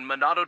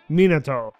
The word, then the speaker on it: Minato: capital city highway in monado district tokyo oh god the the english pronunciation of that monado minotaur a traffic collision occurred